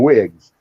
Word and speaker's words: WYG: Usually it's just usually what they call them wigs, which is WYG, but you pronounce it wig, and it stands for what you get.